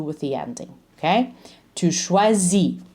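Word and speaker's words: choisis: the ending okay to schwazi don't pronounce the S ill schwazi don't pronounce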